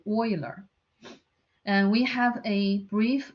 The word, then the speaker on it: Euler: Euler diagram is named after Euler, knowing it's not pronounced as Euler, is Euler.